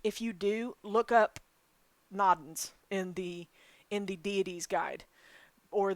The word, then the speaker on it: Nodens: If anybody knows how to pronounce that, I'll type it in. It is Nodens.